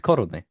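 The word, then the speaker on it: koruny: Well, in Czech, it's korony.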